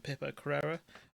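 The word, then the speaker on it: Pippa Crerar: I was making this video which is from Pipper Carrera, that's how you pronounce her name, saying boss in the UK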